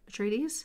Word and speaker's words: Atreides: So Duke Leto Atreides, is that how you say it? Atreides?